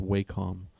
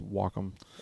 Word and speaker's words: Wacom: that maker w m I used to think it was pronounced wcom W which I thought it wasn't much more techy but it's Wacom people say whack them like Wacom s wots yeah okay